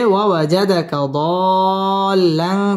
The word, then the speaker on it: ووجدك ضالا: فهدا ووجدك ضالا فهدا ওয়াও ঠোঁট গোল করে উচ্চারণ করতে হবে ওয়াজাদাকা দাল্লান চার আলিফ টান দিয়ে পড়তে হবে লাং ইকফা গুন্নাহ করে